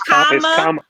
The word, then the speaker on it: Kamala: It's Kamala. It's Kamala. Yeah. So like a comma. I seen somebody make a shirt and it was just comma and then la.